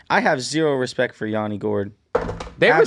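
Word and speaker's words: Yanni Gourde: Yanni Gourd. Yes. Yanni Gourd.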